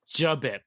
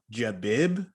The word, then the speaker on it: J'Bip: JBip. Folks. It's JBip. Let's say it together. I've heard a lot of people say JBib. Like, there's no bib at all. No. Bip.